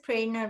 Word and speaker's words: Prana: and my name is prana you pronounce prana like you're praying that's the easiest way to remember and thank you scott